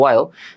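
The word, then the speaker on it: while: হয়েল, ওয়াইল, কি তোমরা হয়েল বলো, নর্মালি উচ্চারণ হচ্ছে ওয়াইল।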